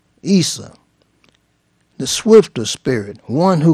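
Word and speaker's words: عيسى: Okay, Muhammad is a title.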